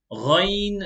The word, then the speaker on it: Ghain: Ghain lam, ghain lam. Ghain is one of the full mouth letters, so make sure to pronounce it with a full mouth.